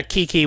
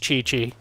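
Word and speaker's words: Qiqi: I'd be ecstatic too I keep calling her Kiki when she's pronounced Chichi one of these days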